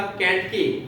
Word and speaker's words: केंटकी: बराबर, यह मैंने अंडरलाइन भी करवाया था, केंटकी, के ऊपर डॉट है, न का उच्चारण आना चाहिए।